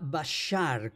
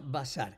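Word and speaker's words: בשר: Si el puntito estuviera en la primera de la derecha, eh, se pronunciaría bashar con con la sh eh s hr, pero el puntito está es sobre la izquierda, así que se pronuncia bazar.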